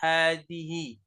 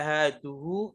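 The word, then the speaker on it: هذه: Perhatikan cara membacanya. hanya dipanjangkan ha, terus hi. Dan membacanya selalu seperti ini karena memang mabni. Tetap bacanya tetap selalu dibaca hadihi. Tidak bisa dibaca haduhu atau hadaha, nggak bisa. Selalu hadihi.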